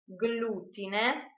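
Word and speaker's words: glutine: pronounced Y in fact if g l are followed by the vowels a e o and u they are pronounced separately GL GL like for example in the word GLE for instance Gloria glutin globo are pronounced just as the English words Glory gluten and Globe instead if the letters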